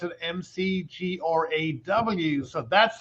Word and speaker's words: McGrath: you know what Patrick in Ireland we actually don't pronounce our THS that's how we can